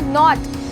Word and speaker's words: knot: ऐसे ही अगर मैं बोलूँ नॉट, तो KNOT होती है हमारी नॉट की स्पेलिंग, पर यहाँ पर एन से पहले के आया है तो ये भी हो जाएगा साइलेंट।